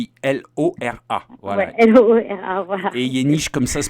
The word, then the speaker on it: Yeniche: Et Yeniche, comme ça se prononce, Yeniche. Y-E-N-I-C-H-E.